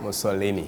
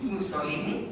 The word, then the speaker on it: Musolini: Am I pronouncing it right? Musolini. Musolini.